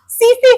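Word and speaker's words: tsetse: अगर हम वेक्टर की बात करते हैं तो हमारा आंसर होगा सीसी फ्लाई। सीसी फ्लाई टी से स्पेलिंग स्टार्ट है। टी साइलेंट है। सीसी फ्लाई बोलेंगे।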